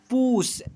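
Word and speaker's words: push: हैं ना वैसा ही पी यू एस एच इसे पढ़ेंगे पूस ऐसे उ के रूप में उच्चारण करते हैं।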